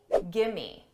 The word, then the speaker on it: gimme: Did you hear that reduction? Give me, gimme, gimme, gimme.